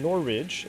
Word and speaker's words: Norwich: point of interest nor which is pronounced in nor Ridge it's an other English twist with the language as an Englishman I apologize for creating it worse it make this sense norwich okay excellent fielding meet